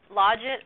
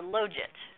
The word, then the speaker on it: logit: there it is and you said the logit which is like a third pronounciation I would say right well log it Lodge it or load it right I'll take any of those yes I like it